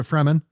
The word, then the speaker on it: Fremen: He joins the desert people, the Freeman or Freeman, Most people pronounce it Fremen, Fremen. Okay. but it is. I think it is literally the free men. Like Got just one less uh, E.